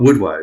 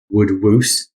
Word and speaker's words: woodwose: doesn't it um but would woe so it's uh w-o-s-e which is um Old English for mad so man of the woods but I've heard it pronounced um would wuse as if it's got two o's in it and I also heard it called wood Wows oh a bit like a mouse yes it would last